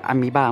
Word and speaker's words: Amoeba: Nonny นะครับที่เห็นเนี่ยเป็นอุปกรณ์ที่ผมใช้ลงสนามบ่อยที่สุดเรามาดูที่ปืนกันนะครับปืนเนี่ยจะเป็นยี่ห้อ Aries Amoeba หรือ Aries Amoeba นี่แหละน่าจะ Amoeba มากกว่านะเพราะว่ามันสะกดด้วยคำว่า AMOEBA Amoeba ใช่ Amoeba จะแปลว่าเชื้อโรคนะก็เป็นปืนนี้เป็น Amoeba รหัส AM013